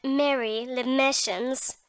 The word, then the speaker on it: Marie Le Marchant: "Her name is Miss Marie Le Marchant, but as she happened to be born in London, she pronounces it Mary Le Marchants, with the accent on the mas.